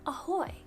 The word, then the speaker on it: ahoj: two there hello is ahoy like it's spelt ahoj but it's pronounced ahoy so just imagine you're